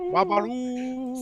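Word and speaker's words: Babalú: the club Tropicana, and he'll be singing Babaloo. See, we even know how to pronounce it correctly, unlike Michael B. Jordan.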